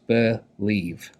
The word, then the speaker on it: believe: it's an irregular sound and this is two syllables believe okay so for our first syllable b e